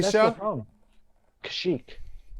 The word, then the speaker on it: Kashyyyk: Chewie's planet was No, Kisha? that's the problem. Kashyyyk. Kashyyyk. That's how it's pronounced.